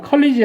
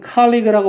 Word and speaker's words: colleague: collaborate with other colleagues 그러면 이 colleague라고 하는 단어 컬리지 아니에요. 컬리지는 대학이지만 얘는 colleague라고 발음하고 동료란 뜻입니다.